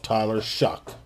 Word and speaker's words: Shough: Now, I say his name should be pronounced as Tyler Shog. But this idiot wants to call himself Tyler Shuck. And his spelling of his last name is Shough. So how is that Shuck?